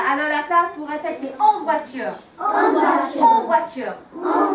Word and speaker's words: voiture: Les vôtres. Nearly. Think about that sound that O and the I makes in French. Say it. En voiture. Super. Alors la classe, vous répétez. En voiture.